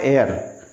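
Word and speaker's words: heir: ये लिखा हुआ है एयर, यहाँ भी एच साइलेंट है, यहाँ भी हम एन लगाएंगे।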